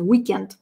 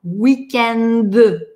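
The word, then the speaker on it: week-end: Но несмотря на то, что и в русском тоже есть этот weekend, мы произносим глухое «т» на конце – weekend. А нам во французском везде нужно звонко – weekend.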